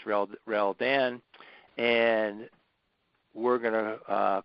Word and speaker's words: Reldan: All right, so my given name is, and my dad spelled backwards and got Reldan. That's how you say it, Reldan.